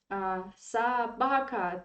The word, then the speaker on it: собака: Собака, the stress is on a, so this o is in unstressed weak position, so we pronounce it like a, собака.